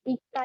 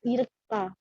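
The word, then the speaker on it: 읽다: jadi ilgo yo ini kata dasarnya ika, ini bacanya ika ya, bukan irka.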